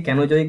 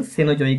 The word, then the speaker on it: Cenozoic: इसको जो CENOZOIC है, तो सेनोजोइक बोलिए, कैनोजोइक बोलिए, ये प्रोनाउंसिएशन, लेकिन मुझे लगता है कि इसका सही प्रोनाउंसिएशन सेनोजोइक ही है।